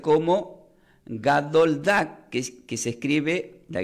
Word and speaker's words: gadol dag: Pero gran pez se pronuncia como gadoldak, que se escribe la G de gato, la